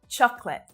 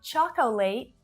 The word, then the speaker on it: chocolate: Chocolate. All my Filipinas out there, this one is for you. Not chocolate, but chocolate. Chocolate. So that last syllable is also really short.